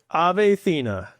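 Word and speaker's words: Ethena: And how do you pronounce that name right there at the top in green? Athena.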